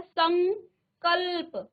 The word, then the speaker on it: संकल्प: उच्चारण आ रहा है संकल्प उच्चारण में आप देखिए अंग आ रहा है क्योंकि पांचवा वर्ण क्या हुआ है अनुस्वार हुआ है तो इस अनुस्वार में आप किसका उच्चारण करेंगे अंग का ठीक है संकल्प अंग का उच्चारण क ख ग घ अंग अंग का उच्चारण आएगा संकल्प फिर देखें समधन चय